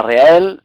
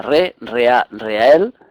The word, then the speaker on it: Rehael: Como hemos dicho, se llama Reael, si lo dimos en 3 sílabas será Reael.